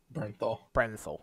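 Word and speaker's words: Bernthal: Brenthal, thank you.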